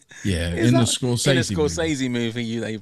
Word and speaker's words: Scorsese: which I was watching about cinemas, how he pronounced it himself. So how did he say it? Scorsese. Almost, well, not quite, but it wasn't like Scorsese, as we would say.